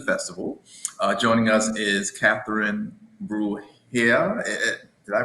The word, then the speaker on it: Bruhier: Joining us is Catherine Bruhier. Did I pronounce that right? It's Bruhier, like you're having a Bruhier.